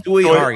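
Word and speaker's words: Tsui Hark: Choi Hark.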